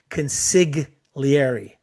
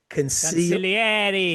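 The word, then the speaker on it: consigliere: You know, Italianspeaking natives, they do not pronounce the G in consig consigaryi. It's consiliary.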